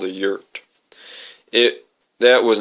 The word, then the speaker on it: yurt: in something called a yurt. That was not an acceptable option. Then he would come back to Tucson to live with her. What the heck is a yurt anyway? Luann asked. Sounds like dirt.